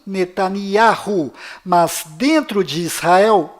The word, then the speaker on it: Netanyahu: Bom, voltando ao assunto, fora de Israel, o nome deste primeiro-ministro é pronunciado Benjamin Netanyahu, mas dentro de Israel, o nome dele é pronunciado Benjamin Netanyahu.